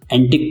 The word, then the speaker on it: antique: My friend Vijay is एन एंटिक person. दूसरा word है एंटीक, तो आपको इसमें लास्ट में थोड़ा सा खींचना होगा।